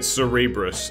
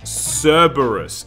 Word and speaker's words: Cerberus: I uh I was the one calling it cerebrus as a child and then people corrected me saying it's cerebrus no no no no no no God I'm getting it all wrong Cerberus it's pronounced Cerberus and I was calling it cerebrus but when